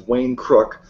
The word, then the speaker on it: Wayne Crook: Wayne Crook, that's the name of his channel, and it's spelled just like it sounds, Wayne Crook.